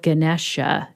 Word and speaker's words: Ganesha: correct my pronunciation because i feel like i've heard it called ganesha but you're saying ganesh i've also heard ganesha it really depends on which region of india you're from so the way i've